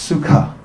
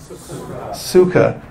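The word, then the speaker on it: सुख: interesting phenomena here's two words this word is pronounced suka could everyone please say that suka and is a Sanskrit word which means happy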